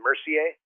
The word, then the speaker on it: Mercier: Actually, Isabelle, before I get going, your last name, Mercier? Yeah, perfect.